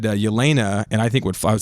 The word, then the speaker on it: Yelena: He said Yelena, and I think I would say Floch too.